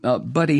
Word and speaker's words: Budde: the Right Reverend Marianne Budde, and I think I'm pronouncing her name right, it's Budde, Budde, I believe.